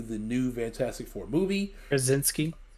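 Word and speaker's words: Krasinski: ever say his name kronoski again to lead it into the new fantastic four movie brzezinski there you go yeah you know it's the ski that always messes me up um i'm a little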